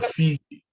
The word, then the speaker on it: Fiji: Is that Fiji or Fiji? Fiji, just like the way we pronounce it.